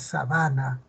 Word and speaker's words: sabana: algunas palabras por ejemplo si digo sábana otra cosa es Sabana el la sílaba tónica se ha desplazado eh aquí está no